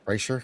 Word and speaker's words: Kreischer: I don't even know how you fucking pronounce his name. Kreischer? Yeah, Kreischer.